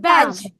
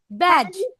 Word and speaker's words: badge: Then badge. Badge. Badge. Badge. Not badge বলবো না।